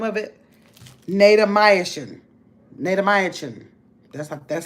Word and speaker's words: Natamycin: Natamycin. That's how they pronounce that.